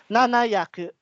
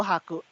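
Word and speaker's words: 七百: Ang biggest po din is yaku, ma'am. Kunyari, sa Yaku. 700, yes. Nanayaku. Hindi po haku. Nanayaku, nanajuroku.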